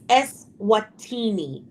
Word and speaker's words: Eswatini: They sent him to a country we can't even pronounce. Exactly. Name is Eswatini.